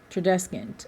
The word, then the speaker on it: Tradescant: Yes, and I said his name wrong, Tradescant. Tradescant.